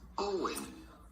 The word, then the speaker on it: Eoin: How do you go about pronouncing it? Not like it's spelled, but simply Owen. Ian.